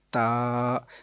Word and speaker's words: تا: عربی لہجے کے اندر۔ عربی لہجے کے مطابق قرآن پاک کو اگر پڑھیں گے تو وہ بے، تے نہیں بلکہ با، تا، سا ایسے ہوگا۔ تو اس طرح سے